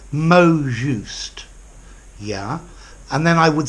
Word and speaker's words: mot juste: you could probably say mo juste yeah and then I would say bomb or or bond mo notice mo mo T in French the final consonant is silent so I'd say mo juste bond mo more just